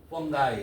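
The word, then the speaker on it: fungi: 근데 이렇게 끝난 놈을 아이로 바꾸고 번가이 이렇게 발음해요.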